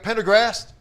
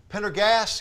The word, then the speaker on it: Pendergast: we're joined by Frank Pendergrast Pendergrass excuse me Frank no problem you told me the r is silent in there so uh we're talking